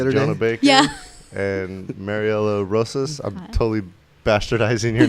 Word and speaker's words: Mariela Rosas: gonna bake yeah and Mariella roses I'm totally bastardizing your name it's fine Maria LaRosa that's like the proper pronunciation but Mariela it's fine hey Mary Ellen okay